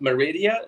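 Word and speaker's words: Mérida: why it moved to the what's it it's pronounced Meridia is the city not from Cancun yeah yeah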